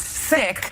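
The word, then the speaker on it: Cikk: it's funny that my family changed my last name when I was in the 3rd grade because my original last name was C-I-K-K, which everyone pronounced Sick.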